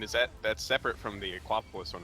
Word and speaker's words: Aquapolis: I thought you guys were just identically mispronouncing Acropolis. Oh, no. It actually is That's Aquapolis.